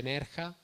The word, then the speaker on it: Nerja: Io attualmente vivo in provincia di Malaga, in un paese che si chiama Nerja, con la J, però si legge Nerja, e lì le condizioni